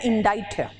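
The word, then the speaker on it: indict: इंडिक्ट नहीं होता है यह सी य साइलेंट है और आई का प्रोनंसिएशन य ई नहीं आई ही है ठीक है और प्रन इसका इनडाइन ही कहा ना जिंदगी भर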